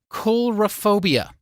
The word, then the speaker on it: coulrophobia: one coming up now correct me when I say this wrong coulrophobia oh you actually nailed it I did okay awesome